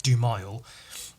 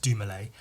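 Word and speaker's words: Dumile: real life surname is dumalay which is d-u-m-i-l-e would you like spelled like do mile but it's pronounced doumalay um and he uses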